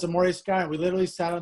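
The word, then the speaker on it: Morei Sky: And how do you pronounce? Is it Moray or Morai? Moray Sky.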